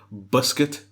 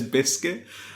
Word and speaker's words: biscuit: takes the uh and I've put it phonetically here so I can see how he says it buscuit um as he as he says biscuit I've never heard anyone describe it as as like this but you